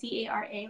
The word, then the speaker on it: Maskcara: So mascara, first off, it's Maskcara.